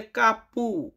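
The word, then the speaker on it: capo: এরপরে আছে কাপো। কাপো মানে বস। আমরা যে বসের আন্ডারে কাজ করি বস এটাকে বলে কাপো। ইতালিয়ান কাপো। তো অনেককে আমি দেখেছি যে অনেকে বলে কাপু। বাট ভাই সঠিক উচ্চারণ করতে হবে।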